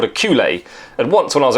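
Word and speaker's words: culet: my original training was it's a French word and it's called a culee and that made sense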